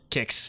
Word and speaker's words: CIX: Kicks. Let's go. Kicks. 109. Yes. That's how you pronounce it.